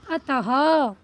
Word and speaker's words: अतः: तो अतः हा का प्रोनाउंस हुआ बच्चों, मतलब हा का उच्चारण आया इनमें, मतलब अतः।